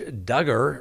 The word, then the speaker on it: Duggar: Josh Duggar rhymes with hugger.